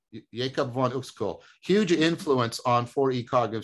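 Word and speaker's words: Uexküll: x k umlot u l l jacob vaughn who's cool huge influence on 4e cognitive science the notion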